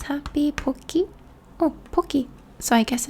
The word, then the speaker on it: Pocky: It is pronounced poki, not pocky, sorry.